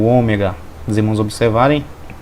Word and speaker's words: Ômega: letra que é o ômega o ômega ele tem o som do Ó como com um acento circunflexo Ômega Ômega tá até aqui na